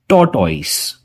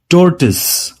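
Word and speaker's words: tortoise: तो देखिए, इस वर्ड में जब ओ और आई साथ आते हैं वो हमें ओई का साउंड नहीं देते, वो हमें अ का साउंड देते हैं। तो इसका सही प्रोनाउंसिएशन क्या होगा, आइए जानते हैं। इस वर्ड का सही प्रोनाउंसिएशन है टोर्टिस, टोर्टिस। ओके, टोर्टॉइज नहीं, टोर्टिस।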